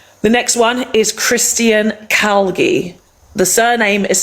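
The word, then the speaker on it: Calgie: The next one is Christian Calgi. The surname is spelt C-A-L-G-I-E.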